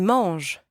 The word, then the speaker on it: mangent: Ils mangent. They eat, masculine. Ils mangent. Elles mangent. They eat, feminine. Elles mangent. And again, don't pronounce the ENT at the end.